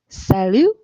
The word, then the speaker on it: salut: Okay, so first, if you have an S at the beginning of the word, it will sound like the way the S is pronounced in English, like us. We see that in the word salut, salut, which means hey or hi.